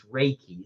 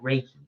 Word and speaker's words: Reiki: And yes, the pronunciation is Reiki. See, I got it right. Raiki.